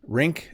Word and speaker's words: rink: Rink and ring. So a rink is a place that you can go skating. You can go to an ice rink, and it rhymes with sink.